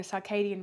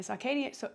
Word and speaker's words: circadian: actual Rhythm called the Circadian rhythm and the Circadian circadian so circadian some people pronounce it differently but circadian rhythm rhythm is